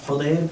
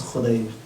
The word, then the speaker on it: Khudayr: Sometimes his name is pronounced Khudayr, but it seems like the correct pronunciation is Khudayr.